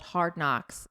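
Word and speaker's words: Hard Knox: She has one that she just launched by herself called Hard Knocks spelled like K N O X like her last name and it's all about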